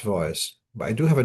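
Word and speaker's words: צבאות: in Pirkei Avos about the name Tzvois and how that we that in Chabad we don't hear the name as it being pronounced as Tzvokos. It's pronounced Tzvois.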